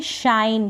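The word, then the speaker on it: shine: टी शट इसको पढ़ेंगे शाइन क्या पढ़ेंगे शाइन एन को तो न पढ़ रहे हैं इ का उच्चारण नहीं हो रहा है शाइन मतलब चमकना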